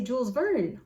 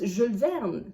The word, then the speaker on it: Jules Verne: Is it really mispronouncing if I say Jules Verne? I know it is, because it's Jules Verne.